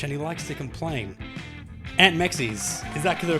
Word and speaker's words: Ant Meczes: Aunt Mexis, is that the correct pronunciation?